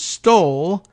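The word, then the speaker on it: Stolle: Beach Commonwealth's Attorney Collins stole that's his name his actual names sto lle spelled like trump would if he were being asked to spell the word stole but Collins stole recused himself stoles brother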